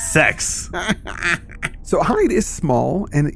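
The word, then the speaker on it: Sekz: It's spelled S-E-K-Z. Sex.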